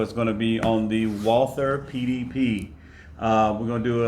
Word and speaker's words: Walther: Show you what comes in the box and talk about some of the performance of the Walther, or correctly pronounced Walther PDP.